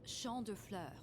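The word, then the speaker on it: Champs de Fleurs: Champs de floors? How do you say that? It's Champ de Fleurs. It means field of flowers.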